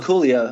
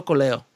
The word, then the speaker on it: Coelho: Paulo Coelho, I think his name is the author. Paulo Coelho.